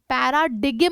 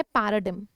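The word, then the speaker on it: paradigm: follow करना ठीक है पैराडिगम नहीं बोलते हैं यहां पे ग साइलेंट है तो इसको बोला जाता है पैराडिम ठीक है रेंडर का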